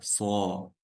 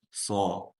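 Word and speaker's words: صَ: Все эти буквы, когда огласованы фатхой, произносятся через звук О.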